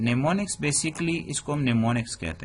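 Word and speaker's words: mnemonic: नियुक्त लेकिन यहां पर कंसेप्ट नियमों को कि निमोनिक बेसिकली इसको निमोनिक्स कहते हैं हम साइलेंट एन है कि कि को टेंपो ने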